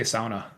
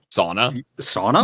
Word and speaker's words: sauna: There's some words you can just pronounce both ways. Like I talked to someone else about this. Like, how do you say sauna? Sauna. Yeah, exactly. You can say it both ways.